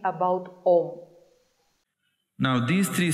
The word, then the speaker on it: Om: In all the literatures, it is only Om, no Am. There is A plus U plus Ma. It is written that way, but it is never pronounced that way.